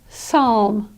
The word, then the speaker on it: psalm: With PS, again, the P is silent. You just pronounce it as an S. Psychiatry or psalm.